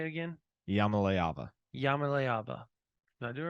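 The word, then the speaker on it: Iamaleava: Yamaleava. Yamaleava. Did I do it right? Yeah. See, I would have butchered it if I tried it.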